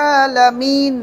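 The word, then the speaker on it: العالمين: উচ্চারণ হবে যেমন আমরা কি বলি আলহামদুলিল্লাহি রাব্বিল আলামিন না আছে এখানে কি আছে নুনের উপর কি আছে জবর আছে তাহলে এই যে আলহামদুলিল্লাহি রাব্বিল আলামিন লিখি যে আলামিনা এখানে থামলেন এখানে কি থামলেন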